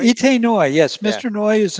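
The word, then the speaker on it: Itay Noy: Itoy, see if I'm pronouncing it correctly. Itai Noi? Itai Noi? Ite Noy, yes, Yeah.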